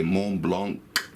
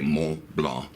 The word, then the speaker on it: Montblanc: vowel you would say Mon Blanc is a fine writing instrument however if you wanted to say this brand rights well you would say mo law rights well you would leave off that sound a consonant so